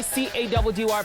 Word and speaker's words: CADDY: It's mission time with your boy C-A-D-D-Y, pronounced Caddy.